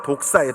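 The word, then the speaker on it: δόξα: 여러분, 제가 지난번에도 한번 말씀드렸는데, 자, 영광이라는 이 단어가 헬라어로 독사예요. 독사. 뭐요? 뱀 독사 말고 그 헬라어 발음으로 독사라고 합니다.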